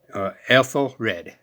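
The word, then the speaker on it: Æthelred: King's name also read else'll read is how you really pronounce it all right and it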